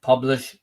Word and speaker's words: Publish0x: And they actually pronounce that publish, but it's got a 0 and an X on the end.